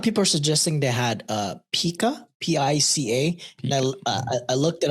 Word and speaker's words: pica: There's a whole Pika snacks. Pica is how you pronounce it.